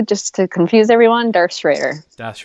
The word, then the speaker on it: Schroeder: Schroder that's strange because it rhymes with Vader if you pronounce it the way yes we do just to confuse everyone darts Raider that's right or everybody